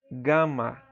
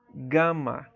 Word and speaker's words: gama: A terceira letra é a letra gama. Gama, tá? Gama. No grego não tem som de G, como em gelo, tá? Mas como a palavra gato, tá?